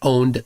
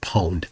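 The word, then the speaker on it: pwned: Some people pronounce it owned, some people pronounce it poned.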